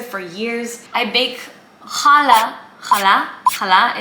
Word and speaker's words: Challah: Challah is how I say it. I don't know how to say it with an English accent.